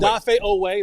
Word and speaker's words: Odafe Oweh: Odafe Odafe Oweh Odafe Oweh, don't play with my pronunciation.